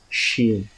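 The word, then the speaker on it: شین: So this sheen, the sound of this sheen is similar to this shine.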